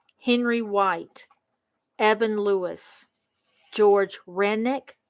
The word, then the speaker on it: Rennick: wilson edward griffin henry white evan lewis george rennick r e n r-e-n-n-i-c-k samuel young thomas farrell